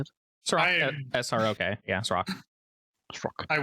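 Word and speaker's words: Srok: How do you pronounce it? Srock.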